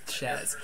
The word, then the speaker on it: Chez: name it's sheap Posh but you're supposed to pronounce it Chez and I wrote it as it's supposed to